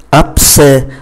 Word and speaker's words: abcès: Chúng ta nhìn chữ thứ nhất, abcès. Abcès là một cái mụn nhọt thì s này không phát âm và chữ ký tự ơ này phải mang accent grave và phát âm là e.